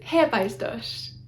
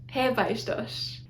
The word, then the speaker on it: Hephaestus: Hephaestus is Hephaestus, Hephaestus. It looks like an H at the beginning. It's not an H, it's a capital eta, which is the long E sound, so Hephaestus.